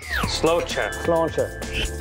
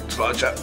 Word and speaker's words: Sláinte: And my favorite, things you need to know how to say when drinking here. Sláinte. All right. Sláinte.